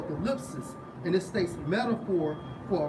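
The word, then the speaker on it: θλῖψις: It's like Strong's G 2347 pronounced as thalipsis or thalipsis, and it states metaphor for oppression, affliction, tribulation, straits.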